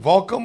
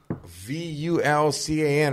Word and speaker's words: Vulcan: saying it wrong bro is it Volcom or voltum welcome welcome it's Volcan like but we say it differently spell it for me bro v-u-l-c-a-n right Vulcan is that a volcano is close to volcano okay exactly can someone